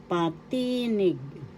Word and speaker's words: Patinig: Patinig. Patinig. First syllable pa, second syllable ti, third syllable nig. The accent is on the second syllable.